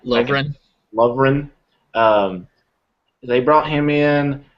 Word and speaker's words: Lovren: Well, they brought in I can't ever pronounce his name because I want to put the R in front of the E. Laverne.